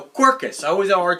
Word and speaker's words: Quercus: called Cirus cus cirkus Cirus carcass not carcass God I hope not no quirkus I always have a